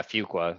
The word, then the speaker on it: Fuqua: So they tell you the first day, the way you learn to pronounce it is few qualify. Okay. So, Okay. Fuqua.